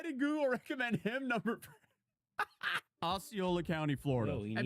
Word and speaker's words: Osceola: Osceola. Osceola. Okay, we got that. Bro, what was this? Why did Google recommend him number? Osceola County, Florida.